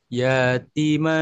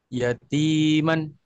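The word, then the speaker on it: يتيما: Yang ini yatiman. Heh. Salah salah. Yanya pendek. Yanya pendek yatiman.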